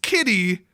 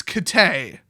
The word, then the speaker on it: Kitteh: And it's not pronounced kitty, it's Kitteh. Like, almost like K apostrophe Tay, like Kitteh.